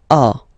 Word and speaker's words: as: Okay, second one, tu as. Okay, as usual in French, final s is not pronounced.